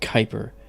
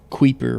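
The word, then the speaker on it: Kuiper: have the Kyper belt that's Ki P Ron oun Kyper people sometimes will mispronounce it you know queer or Cooper it's Kyper well the Kyper belt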